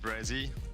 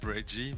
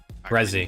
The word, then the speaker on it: Brezzy: Just Brezzy. Like SZ. I know it's hard to pronounce because it's half of my name. It's just say Brezzy and not Breggy, but Brezzy.